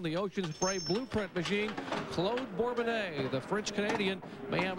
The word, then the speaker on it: Claude: He prefers Claude. He's French-Canadian, and I guess when you have a name that's spelled like John, pronounced like Jan, you be more sensitive.